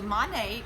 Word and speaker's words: Monat: Oh monie have any ways we can pronounce it yeah modern nature so money would probably be the most accurate but you can say